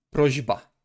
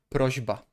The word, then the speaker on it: prośba: And then the other way around, if the second consonant is harder, we must also make the first consonant harder. Okay? Prośba, także liczba. Prośba, także liczba.